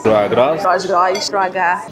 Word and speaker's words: Troisgros: Troisgros. Troisgros. Acho que é Troisgros.